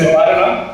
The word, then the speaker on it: Nivarana: Yes, it's Nivarana. It's basically from the Hindi word Nivaran, which means solution. Yeah. And yeah, so it's a South Indian way of saying Nivaran.